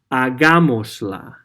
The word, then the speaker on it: hagámosla: Hagámosla. Let's do it. Okay, again, we attach the pronoun to the verb and we put an accent on the third from last vowel.